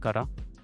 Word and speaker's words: Carat: but after that I joined a company called KA which is pronounced as uh ka but spelled as c